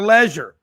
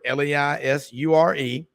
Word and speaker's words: leisure: designer says at your leisure how do the British take a word l-e-i-s-u-r-e that the Americans say Leisure and they say leisure they don't go on vacation